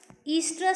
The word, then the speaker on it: oestrous: Okay, first one, clearly we can understand here what is estrous cycle. OESTROUS, what they have mentioned here. O you should not pronounce here. It is called as estrous cycle.